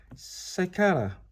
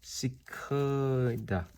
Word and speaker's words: cicada: let's figure it out Sakara hmm wait a minute they actually pronounce this cicada okay a homo Terrace